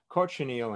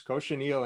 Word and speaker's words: cochineal: I made the mistake recently of not pronouncing it correctly. So it's cochineal in English, it's cochinilla in Spanish, but cochineal in Spanish means filthy, not cochineal bug. So it's cochineal in English, but cochinilla in Spanish.